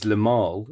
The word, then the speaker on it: Limahl: It's it's Lamar. Oh, Lamar. It's Lamal, and it's spelled Limahl.